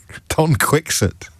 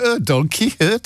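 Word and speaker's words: Don Quixote: And yet when it came to pronouncing Don Quickset she was absolutely adamant that it was a pretentious affectation to start donkey hurt here.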